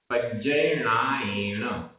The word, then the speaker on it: पज्जयणायेण: पज्जयणायेण, पज्जय, आधा ज पूरा ज, पज्जयणायेण।